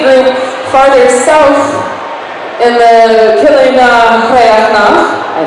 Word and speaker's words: Coille Neo-Chríochnach: So Calder and Tempest have decided to lead the group farther south in the Coille Neo-Chríochnach, I said it right this time, which means